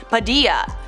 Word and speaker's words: Padilla: probably didn't know, but his name is Latino and it's pronounced Padilla." I actually didn't know that. Thank you for letting me know. Those silent L's, they just get me every time.